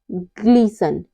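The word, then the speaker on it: glisten: पे T silent है ग्लीसन ग्लीसन में भी टी के बाद न आ हुआ है तो यहां पर टी साइलेंट है मैच मैच में क्या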